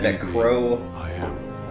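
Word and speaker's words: Qrow: Oh yeah, I found out that Q-R-O-W is pronounced Crow.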